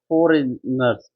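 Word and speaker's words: foreigners: फॉरेनर्स, फॉरेनर्स क्या वो कैसे बोलते हैं, इजी स्पेलिंग दे, नर्स, फॉरेनर्स, इसमें जी साइलेंट है, फॉरिनर्स, फॉरिनर्स बोलते हैं इसे।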